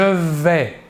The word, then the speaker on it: vais: À la première personne, je vais. À la deuxième personne, tu vas. Nous voyons ici que pour les deux premières personnes, le S final ne se prononce pas.